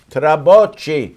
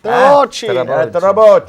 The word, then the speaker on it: Trabocchi: Chef Fabio Trabocchi. Trabocchi.